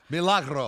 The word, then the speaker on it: Milagro: Milagro.